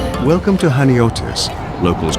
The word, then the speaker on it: Chaniotis: If you've come to Haniotis, Hanioti as locals say, the beach is probably why.